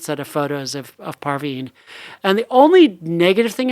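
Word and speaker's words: Parvin: this really cute set of photos of of parveen and the only negative thing i would say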